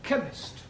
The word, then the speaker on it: chemist: It sounds like it begins with K, CH. but that is making it chemist. No, the CH is pronounced K.